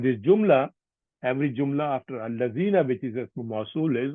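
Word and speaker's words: الذين: This is Allazina, not Dina. Ismu Masul.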